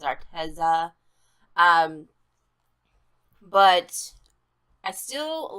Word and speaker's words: Arteza: contact multiple times with Arteza, I guess is actually how you say it, not Arteza, it's Arteza.